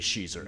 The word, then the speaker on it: Schiezer: The joke I always make: if Weezer, I'm sorry, had a female cover band, would be Schiezer, and there is one.